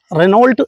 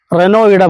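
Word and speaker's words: Renault: ആണ് ഇത് French Nissan റെനോ റെനോൾട്ട് എന്ന് എഴുതുമ്പോൾ റെനോ എന്നാണ് ഉച്ചാരണം റെനോയും നിസാനും തമ്മിലുള്ള ഒരു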